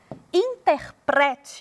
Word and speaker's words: interprete: aí E aí e aqui interprete e tem a penúltima sílaba tônica é de entender de